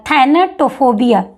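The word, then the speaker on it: thanatophobia: थोड़ा सा pronunciation difficult है। देख लीजिएगा। थेननेटोफोबिया इस तरीके से आप इसको थोड़ा सा ब्रेक करके पढ़ सकते हैं।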